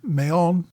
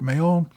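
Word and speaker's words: Mahón: correction from last week I referred to Port Mayon as an area where the British were set up at Minorca it was pointed out to me that my mispronunciation was so bad that it confused some listeners who were famili amiliar with the island it should have been Mayon I'm pretty confident I butchered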